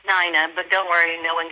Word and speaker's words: Nina: It's pronounced Nina, but don't worry, no one gets it right.